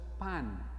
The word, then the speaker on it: Pan: es un dios griego pan como si fuera pan de comer pan en griego significa todo los griegos adoraban muchos dioses uno de ellos era el dios pan como pan de comer igual se pronuncia igual y en esa cueva